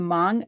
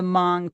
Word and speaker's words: Hmong: And as uh Caying mentioned uh she and new are from the Mong tribe which is you may have seen it in writing HM OG but the H is silent. So it's the Mong tribe.